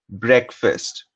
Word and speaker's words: breakfast: Breakfast. Break is the first part here. If one were to just read it as is, it's break. But in breakfast, it gets pronounced and rhymes with check, deck, heck.